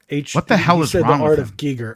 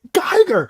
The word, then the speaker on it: Giger: but he called it Giger I'm like I'm like Geiger I'm yelling at the